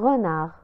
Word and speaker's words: renard: Un renard. Un renard. Un renard. La nontek harf D fi akhir kalimat renard.